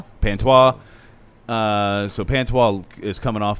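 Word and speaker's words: Pantoja: So let's start with say his name again with the P. Pantois.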